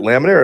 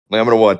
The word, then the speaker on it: LAMINA1: Is it Laminer or let me am I saying it wrong? Am I butchering it? I asked her about Lamina one.